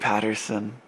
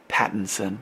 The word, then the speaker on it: Pattinson: her name okay it's Robert Patterson Pattinson sorry said it wrong so I like fans